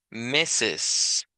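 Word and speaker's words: Mrs: que en este caso se pronuncia meses meses así literalmente como que si fuera m i s s i s meses meses eh significa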